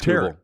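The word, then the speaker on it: Tarik: on, I never know, is it Tariq Skubal? I never know how to say it. It's Tarek. It's Tarek Skubal.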